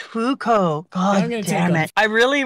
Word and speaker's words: Fuko: who are serving other people how do you pronounce her name which which one our main person Fuko it's just Fuko okay my brain wanted to add something you